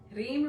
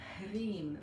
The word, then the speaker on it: Hreem: So we will be entering the world of Hreem this morning. So if we look at the pronunciation, again, we have that, so HR, that rolled R, the long I, which is pronounced E, so that's why sometimes you see it written like this.